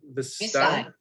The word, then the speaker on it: Vistide: So the actual answer was, how do you pronounce it, Valerie? Vistide.